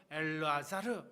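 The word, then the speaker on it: אלעזר: 나사로 헬라오로 라자로스라고 읽고요. 히브리어로는 엘르아자르 이렇게 읽습니다.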